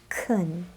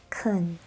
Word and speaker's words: can: The word can, for example, sounds different in these two phrases. You can do this. And yes, I can. You can do this. Yes, I can. Kun, can. Kun, can.